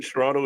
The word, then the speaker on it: Toronto: cool my second te in Toronto is silent off